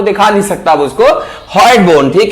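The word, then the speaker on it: hyoid: तो हम पढ़ेंगे हॉयड बोन। स्पेलिंग हो सकता है थोड़ी गड़बड़ हो, बट उसका नाम क्या है? हॉयड बोन।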